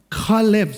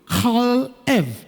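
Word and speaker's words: כלב: Kalev. சொல்லுங்க. Kalev. So how do you say dog in ancient Hebrew? Kalev.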